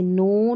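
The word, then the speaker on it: know: है तो यहां पर इन स्पेलिंग्स में के साइलेंट है जैसे नो नाइफ नी नॉक यहां पर उच्चारण पढ़ लें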